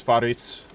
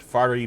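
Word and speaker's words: فارس: um my pronunciation i i was saying it furry before that is incorrect is faris probably i'm probably still mispronouncing it but at least i am pronouncing the s on the end and yes the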